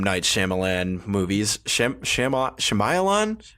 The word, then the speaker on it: Shyamalan: Night Shyamalan movies. Shamayalan? How do you say his name? Everybody says it different. It's pronounced Mnate Shyamalan.